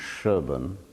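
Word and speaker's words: Shireburn: the chapel of the shire bones is how you spell it that I suspect that in early modern England it was pronounced Sherbourne and the cherdon chapel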